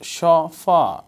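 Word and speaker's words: chaud-froid: Chaufroa, pronounced chaufa, refers to a brown, green, red, ivory tinted or white sauce, so named because it is prepared hot and served cold.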